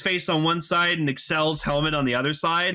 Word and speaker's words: Accel: it's pronounced kamen rider axel but it's clearly excel yeah like the word accelerate yes so it's not